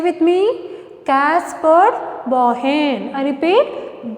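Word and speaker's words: Caspar Bauhin: How you have to pronounce? Say with me, Caspar Bohen. I repeat, Caspar Bohen.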